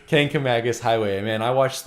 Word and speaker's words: Kancamagus: how to pronounce that there's no n in it and so he just messed it up again he just said Mangus yeah I see Mangus